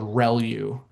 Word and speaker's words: ReLU: Um the the way you pronounce this is called relu.